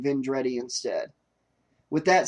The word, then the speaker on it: Vendredi: But I said Vendredi instead of Vendredi. But Louis Vendredi is what I should have said, and I do apologize for saying Vendredi instead.